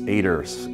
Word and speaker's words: Eider: her to mellow yes aters it's eid ER it's a German name pronounced in Portuguese and you're going to